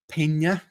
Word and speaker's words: Peña: those are great um Peña is here as well or I should say paa gota gotta pronounce that right good to see you